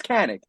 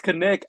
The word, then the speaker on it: Kanik: said that I so there's a big problem with my name oh 95 of the world right now is saying it wrong oh but it's Canon I I believe you said it correctly I never say names right so this is impressive dude people say it's connected and I'm like no